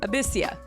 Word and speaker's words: Abyssia: Abyssia is how you say their name, or they can go by Abby.